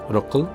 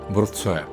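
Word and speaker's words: Wrocław: ইংরেজি উচ্চারণ রকল, কিন্তু পলিশ ভাষায় বলতে হবে ব্রোৎসয়া, অর্থাৎ হঠাৎ করে কেউ এই শহরে এলে তার নাম উচ্চারণ করতে দাঁত ভাঙার উপক্রম হবে।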